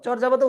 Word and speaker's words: চর্যাপদ: আচ্ছা, তারপরে যদি যাই চর্যাপদ, চর্যাপদের উচ্চারণটা চর্যাপদ হবে, অর্থাৎ চোর দিয়ে লিখতে হবে, এটা আমি এইভাবে মনে রাখতাম যখন আমি অ্যাডমিশন ক্যান্ডিডেট ছিলাম, যে চর্যাপদ চোর।